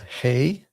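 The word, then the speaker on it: הא: And next we have hey. And this is like the English letter letter H as in hey G.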